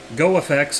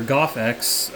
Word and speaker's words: GoFX: So GoFX or GoffEx, I don't know what we're calling it yet. I think people are going to go with GoffEx because it's less syllables.